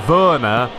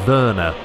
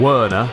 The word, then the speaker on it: Werner: normally you know timo verna i'm going off of the the german pronunciation of verna we don't call him werner you know that's that sounds a little bit wrong anyway so i think